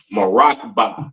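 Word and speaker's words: מרכבה: And it is pronounced Marakba in the Hebrew.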